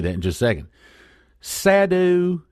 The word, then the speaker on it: sadhu: in just a second sadu s a d hu sadu suar sverage is that at least phonetically that's the way it ought to sound July 20th of 2014